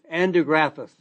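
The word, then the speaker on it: Andrographis: andographus and then a complex of polyphenols from grapes.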